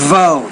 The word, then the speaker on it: vote: to use the word vote you want to pronounce that as a v vote vote listen another it's not